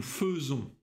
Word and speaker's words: faisons: Nous faisons. Vous faites. Ils font. Elles font. Ты заметил? Я не сказал «nous faisons», а «nous faisons». А «и» в этом случае читается «э». Это исключение.